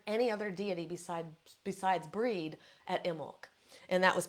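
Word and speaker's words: Brigid: she is so synonymous breed should pronounce Bridget sometimes breed other times she is so so synonymous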